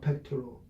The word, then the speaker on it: pectoral: Pectoral. You're going to pronounce it pectoral. Pectoral. Pectoral. Accents on the first syllable.